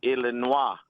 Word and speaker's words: Illinois: It's kind of like the word Illinois. Okay. We say Illinois is like franglay. It's not really French. It's not really English. If we were going to pronounce it in French, it would be illinois.